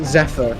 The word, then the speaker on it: Zephyr: Zephyr is how you pronounce it.